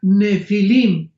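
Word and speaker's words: Nephilim: La palabra gigantes es la palabra nepilim n de Nancy y ph intermedia. Nepilim se pronuncia nefilim en el original hebreo.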